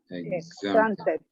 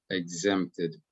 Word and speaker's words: exempted: Exempted. La X, cuando está así intercalada entre dos vocales, hace el sonido igual a la Z. Exempted.